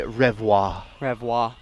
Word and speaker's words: Revoir: making the play uh in french it's actually revoir revoir i know it matters so